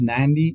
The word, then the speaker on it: Nadi: It is pronounced Nandi. Yes, it's pronounced Nandi, even though when it's written it's Nadi, Yeah. But in Fiji that D is sort of pronounced with an N in front of it, so it's pronounced Nandi.